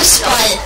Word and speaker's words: Fußball: Ja, da war es Torwart, das war Fußball. Betonung auf Fuß.